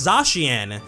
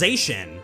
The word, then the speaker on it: Zacian: The most popular alternative, at least as far as I'm aware, is Zacian, which does make sense as well. That's how A-C-I-A is pronounced in words like facial or racial, and it's also similar to words like acacia or emaciate.